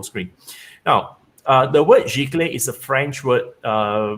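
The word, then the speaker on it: giclée: about printmaking so uh the word that michael couldn't pronounce or rather most of you gonna pronounce is actually pronounced nice g-clay so let me just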